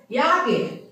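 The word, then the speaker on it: ಯಾಕೆ: तो फ्रेंड्स याके का प्रोनाउंस ऐसा नहीं होता है, आप खुद देखिएगा कि जहां पे आप सुन रहे हो तो हिंग याक बोलेंगे, हालांकि याके ही है लेकिन याक सुनाई देता है, हिंग याक हेलिद्री,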